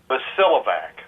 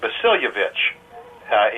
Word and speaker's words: Bosiljevac: There's a J in there, and the name is Croatian in origin. My grandparents are the ones that came across to this country. It used to be pronounced Bosiljevac in Croatia.